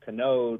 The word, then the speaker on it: Canode: I I remember in junior high uh there was a girl in a wheelchair, and her last name was uh Canode, rhymes with commode, and they were just